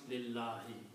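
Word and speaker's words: لِلَّهِ: It's a harf jar, and you don't pronounce this alif. So now you combine lam with lam, it becomes lillahi, for Allah.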